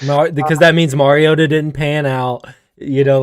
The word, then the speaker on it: Mariota: say his name correctly kyle all right marcus mariota you're an aunt matthew stafford 2009 goes first